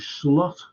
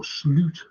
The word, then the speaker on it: Slot: him and this fell named slot or slute as he properly pronounced what's going to happen